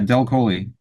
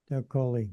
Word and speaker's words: DelColle: DelColle, am I pronouncing that right? Yeah, DelColle. DelColle.